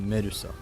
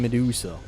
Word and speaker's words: Medusa: that gorg was a meduso which boking fun at God of War deps calling every Gorgon meduso two not saying Medusa which is the correct way of pronouncing the name oh my good